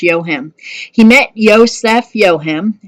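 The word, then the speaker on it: Joachim: his name is Josef yo him and I know it does not sound like it's written J Oh a CH I am but it is pronounced yo him he met Yosef yo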